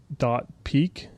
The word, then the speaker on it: dotPeek: It's called .peek. That's spelled out DOTPEEK.